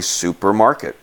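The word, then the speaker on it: супермаркет: how you pronounce it this C is pronounced like an S this is all you as a P like PI the P hears there's an R so it's really supermarket okay I thought was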